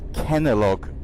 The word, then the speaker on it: Kenalog: The name of the injection is called Kenalog. Like Kellogg's, but Kenalog.